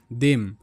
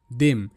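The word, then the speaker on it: them: কারণ টিএইচ এর পর এখানে ই রয়েছে টি এইচই এন দেন এরকম করে শব্দ দেখো টি এইচই এম দেম দেম টিএইচ দ ই এর সাউন্ড এ মানে একার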